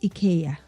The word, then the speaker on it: IKEA: Some call it IKEA. Um, some call it IA, right? So, but I did ask the people from the store when they opened up. I said, "How do you pronounce it?" So they said in the US or somewhere else they say IKEA but actually where we are it's IA right so it's okay.